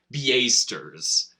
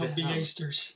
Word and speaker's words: Beastars: The one that I was telling you about, the one that you pronounced Beastars. No, Beastars. It's not Beastars, it's Beastars.